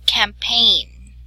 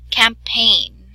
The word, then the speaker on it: campaign: Now, the next one is campaign. Okay, so it is more of like having a long A sound.